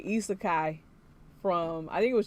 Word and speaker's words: isekai: like okay okay I like it yes sir EA Kai pronunciation now on point oh awesome thank you thank